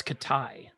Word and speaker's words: Khitai: name of that i don't i'm afraid i'm mispronouncing it it's katai katai okay now this was in kickstarter a few